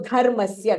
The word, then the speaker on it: dharmasya: So dharmasya, the dha is Mahapranah. And then again in the next line, dhanur vede.